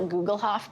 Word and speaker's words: Gugelhupf: It's called a Gugelhof pan.